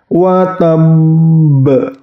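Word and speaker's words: وَتَبّ: Watab, ingat ditahan, watab ditahan, ba sukunnya kemudian dipantulkan. Ingat, pantulannya juga harus pantulan besar atau kubra.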